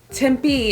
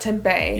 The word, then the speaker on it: Tempe: at a little funny so it's suar we pronounce things a little weird but on that note tim b is tempe not tempeh yeah casa grande is casa grande not costa